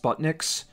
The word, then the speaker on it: SPU7NIX: SPU7NIX, so I guess it's pronounced Sputniks.